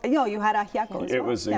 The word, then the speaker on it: ajiaco: can tell you, she's going to have to pronounce it for me. I can also help you. The soup was incredible. Was it ajo? No, you had ajiaco as It well.